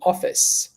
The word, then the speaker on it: office: off office off be careful you're saying it with a letter E in the end you want to cut that out and you want to say office okay come one more time